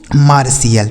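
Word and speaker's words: martial: और टी आई एल का उच्चारण क्या हो गया? सी एल। यह लिखा गया है आपका मार्शियल। इसे पढ़ेंगे दोस्तों मार्शियल।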